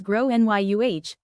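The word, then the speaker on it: Gráinne: kid is called Grana, generally pronounced as Grow Nyuh or thereabouts.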